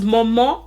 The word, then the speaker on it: màmá: to see what happened how uh pronunciation of momo became Mama because Momo is actually the correct pronunciation and I know that